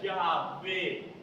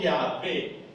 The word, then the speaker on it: Yahvé: A, aquí E, sin la O, y se pronuncia Yahvé. Los dos se utilizan en la Biblia. Las dos formas. O Jehová, Jehová, o Yahvé. Yahvé que hoy lo ve.